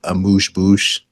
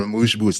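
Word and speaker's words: amuse-bouche: think the word that I learned recently was a mouche bouche, if I'm using that correctly.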